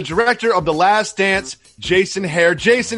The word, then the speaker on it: Jason Hehir: are by the director of the last dance Jason hare Jason how does it feel right now it feels fantastic as you pronounce my name right for the first time